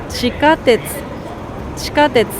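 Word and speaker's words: 地下鉄: これは地下鉄と言います。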